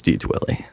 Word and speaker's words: DDwili: They see like the two D's together and they're like, DDwili? Double DDwili? It's DDwili. Interesting.